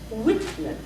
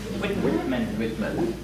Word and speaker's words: Whitman: If you make your vowels long in the stressed syllable, what I mean by that is Whitman. Try that. Whitman. Whitman. Yeah, notice it's not Whitman. It's Whitman.